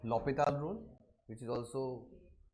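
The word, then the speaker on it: L'Hôpital: Also मिसप्रोनाउंसिएशन, है ना, उसको मिसप्रोनाउंसिएशन होता है, उसको एल हॉस्पिटल रूल बोलते हैं, ठीक है। बस उसका यूज कर देना है, ठीक, क्योंकि देखो 1 यहाँ पुट करने पर एक्चुअली उसका जो वो फ्रेंच वर्ड है, तो दैट्स करेक्ट प्रोनाउंसिएशन इज लॉपिताल, ठीक है। वो हमने इंडियन वर्जन में उसे हेल्प बना दिया, ऐसा कुछ हॉस्पिटल नहीं है, दैट्स लॉपिताल, है ना, dedicated to a mathematician, okay।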